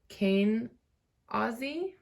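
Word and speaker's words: Kenaz: And then it was even more interesting because we have your rune card is Kane Aussie is how you pronounce it.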